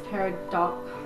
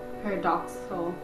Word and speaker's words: paradoxical: This line is Paradoxal. paradoxical. It's like pterodactyl. No, it's not even close. It's paradoxical. This line is paradoxical because the music that you can't hear.